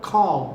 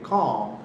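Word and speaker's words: comb: calm, या calm, C-O-M-B, B silent होगा, calm कहेंगे, calm, I calm my beard, calm my hair, right, very good।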